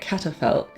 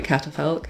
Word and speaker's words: catafalque: remembered what it was, but it is a catafalque, which Catafalque.